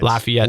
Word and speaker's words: Lafayette: la fiat lyfia how do you say lafayette lafayette thank you thank you sorry it's the canadian